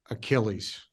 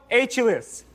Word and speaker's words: Achilles: one million dollars we couldn't because he couldn't pronounce uh Achilles roll the video I saw it wasn't a good idea yeah mythological hero achus I can't accept that okay I'll solve yeah